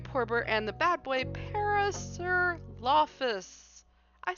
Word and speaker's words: Parasaurolophus: So, this has been our review for uh Trans Wizard Harriet Porbert and the bad boy Paris Lafus.